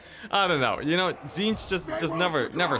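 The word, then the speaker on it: Tzeentch: I also pronounce it with the first T silent. Yeah, Zinch. Oh yeah, so like you have the Z at the end.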